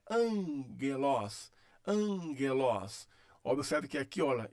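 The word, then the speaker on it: ἄγγελος: Então é angelos, angelos.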